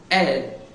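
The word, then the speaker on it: elles: ll e it's Pence's e ll yes but we need to pronunciate it as hell so the something else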